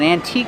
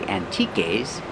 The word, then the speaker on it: antique: We found an antique store. They sell antiques. Remember the e is silent. We don't say antiques. We say antique.